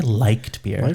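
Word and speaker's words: Leichtbier: you mainly licked beer it looks like it's spelled like beer let's say liked beer like we like this beer yeah but past tense we liked that one yeah not anymore yeah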